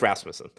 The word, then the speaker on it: Rasmussen: It's Rasmussen. That's what I thought it was too.